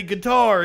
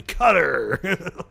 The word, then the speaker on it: Qatar: don't want to be a snob and say guitar even though that's the correct pronunciation of the people that live there I'm gonna say it like a Texas Oil Man cutter yeah I always wondered because I always said